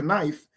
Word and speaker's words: knife: go, he had a knife, ha, ha, ha, ha, ha, you can't read. Well, they're actually reading correctly. But we're supposed to look at that word and say, oh, the K is silent because someone told you that, right?